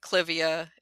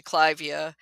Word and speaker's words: Clivia: almost pronouncing incorrectly, like Clivia is actually Clivia Yes. after Lord Clive. But we've all agreed, the general plant nuts, have Mhm. decided we're going to say Clivia.